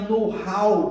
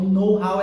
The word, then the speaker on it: know-how: Agora, o know, essa pronúncia do know aqui é muito interessante porque o K é mudo, não se fala o K.